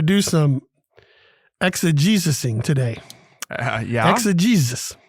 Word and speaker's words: exegesis: Exegesis. Mm-hmm. E-X-E-G-E-S-I-S. 4 syllables, a noun.